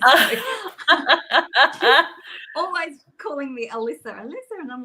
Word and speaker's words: Alisa: So always calling me Alisa, and I'm like, oh my goodness. I don't know why people get it wrong either. It's just Lisa with an A in the front, right?